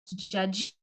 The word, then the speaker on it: Diedhiou: That's spelled Diedhiou, as seen on the screen, and pronounced Jeju.